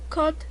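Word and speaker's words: 꽃: Cot tiene 받침, por lo tanto le pertenece un. Pero ya habíamos dicho en reglas anteriores que cuando es sola se dice cot, pero si tiene una vocal seguida, entonces se pronuncia como kotun.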